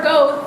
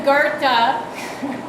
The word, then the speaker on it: Goethe: still poo poo the man was Gerta or go as I thought he was called until my German friend told me how to pronounce his name his name is Gerta because he's German have you guys heard of